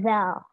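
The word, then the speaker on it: ذ: Yang kedua ini ada zal. Kalau kalian bisa baca, huruf awalnya itu DZ. Jadi kita bacanya zal. Zal. Zal. Lidahnya agak digigit gitu. Iya, digigit gitu di depan. Zal.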